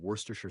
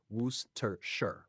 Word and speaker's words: Worcestershire: The pronunciation of Worcestershire sauce is simpler than it looks. Here's how to say it. Worcestershire, Worcestershire, though common in British English.